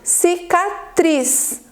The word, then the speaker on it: cicatriz: Sílaba tônica é a sílaba forte da palavra, então nós temos cicatriz. Qual é a sílaba tônica? O tris.